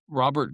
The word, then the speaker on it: Robert: you had and and and no joke here, you had Robert Grubel, which again, if we're going to look at if you're going to hear Robert, it's actually I believe Rober and then it's pronounced Groel.